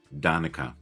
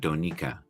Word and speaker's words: Donika: Yeah, I used to pronounce it Donica, but Donika, I believe, is correct.